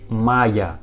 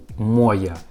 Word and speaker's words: моя: but it isn't correctly we pronounce like maya not moya we pronounce like maya